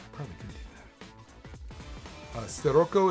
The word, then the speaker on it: Scirocco: Uh Scirocco is pronounced with an S.